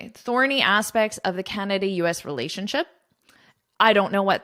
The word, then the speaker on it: Canada: Canada. So this da is quite short. Canada.